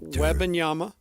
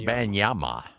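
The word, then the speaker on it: Wembanyama: Just as a refresher, it's not Webyama. It's not Kumbayyama or Webyama. It is is simply Webe Wanyama. Victor Wanyama.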